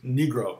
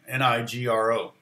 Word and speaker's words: Nigro: uh producer yeah daniel it's negro i guess is how you say his name nigro uh former lead singer